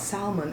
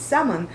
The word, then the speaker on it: salmon: no darling uh I it's not Salman it's salmon and he goes well